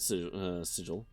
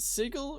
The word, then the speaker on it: sigil: Black salt sigil. Is it sigil or sigil? I've always done with the soft G.